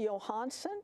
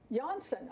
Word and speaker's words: Janshon: Very happy to welcome to Homekeepers Johansson. Did I pronounce that correctly? Janshon.